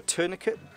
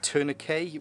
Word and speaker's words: tourniquet: There's also a tourniquet, or tourniquet, which the vast majority of the world call them, but some people like to pronounce the T on the end.